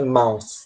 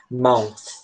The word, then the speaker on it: mouth: Por que ela é difícil? Porque esse som do TH, ele é um som chiado, meio com a língua entre os dentes, e ele tá no final da sílaba. Então, acaba soando tipo assim, mouth. Você acaba chiando no final.